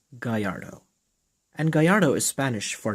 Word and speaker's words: Gallardo: just to make something clear Gallardo is actually pronounced Guyyardo and Gallardo is Spanish for dashing or gallant